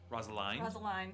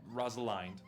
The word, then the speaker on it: Rosaline: Rosaline. Sorry, fuck. Think beginning of Romeo and Juliet. Rosaline. Okay, Rosaline.